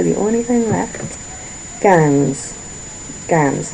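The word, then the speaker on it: quinze: Ganss, not queens, cans. Like cans of juice or cans.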